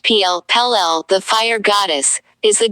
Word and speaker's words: Pele: powerful factors pele in the hawaiian religion pele pronounced pl pelle the fire goddess is the goddess of fire